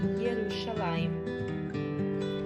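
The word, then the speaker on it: ירושלים: A bandeira de Jerusalém tem no meio o leão de Judá e em cima escrito Jerusalém em hebraico, que se pronuncia Yerushalayim.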